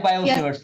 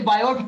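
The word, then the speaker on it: Biot-Savart: बाय बायो-सेवर्ट्स लॉ, बाय बायो-सेवर्ट्स लॉ। ये T silent होता है, ठीक। अब कोई बायोट पढ़ भी दे तो गोली थोड़ी मार।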